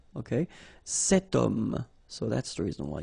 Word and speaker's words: homme: got this h letter, remember h is not pronounced, okay, so you've got the sound of o at the beginning of this word, okay, cet homme, so that's the reason